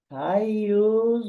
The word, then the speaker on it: Gaius: Okay, so now I would want to insert a person here, which is called Gaius. And yes, it is Guy. It is Gaius, but it can also be spelled with G.